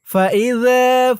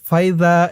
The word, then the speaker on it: فإذا: ফাইযা ফারাগতা। ফাইযা, ফাইযা, এখানে ফাইযা এরকম বলা যাবে না, বলতে হবে ফা ই যা।